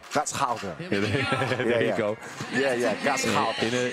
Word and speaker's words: Gashouder: This area, this is like, how do you pronounce it, Bas? Gasholder? De gashouder. Gashouder.